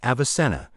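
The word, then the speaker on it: Avicenna: So the medical works of philosophers and physicians such as Iben Cena whose name Western Europeans pronounced as Avisena were read avidly by Christians in Western Europe.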